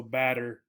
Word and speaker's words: batter: you working on pronunciation the double tees particularly in American English changed to a D sound so batter right and this is for